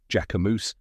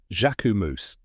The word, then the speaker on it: Jacquemus: Fashion World by storm a lot of people say jamus or jacus but now you know the right way jaumo now you can say